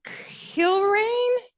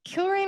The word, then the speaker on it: Kilrain: And then another highlight of mine was we got to meet astronaut Susan Kilrain. Kilrain, I believe is how you pronounce her name.